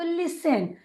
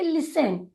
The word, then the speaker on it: listen: स्ट, EN हुआ तो लिसन। यहाँ पर अगर आप देखें तो टी जो है वह साइलेंट है, इसे हम पढ़ेंगे लिसन। लिसन।